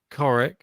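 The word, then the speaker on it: Ćorić: tie break ah sorry so pronounce coric like the itch on the end of courage not courage well my pronunciation still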